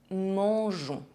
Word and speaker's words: mangeons: The letter I is there to preserve the soft pronunciation of G, je. We often see this in the conjugation of verbs ending in GER. Nous mangeons.